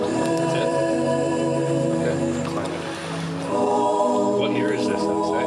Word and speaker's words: Clannad: If you get Clannad, It's like clan and then like mad.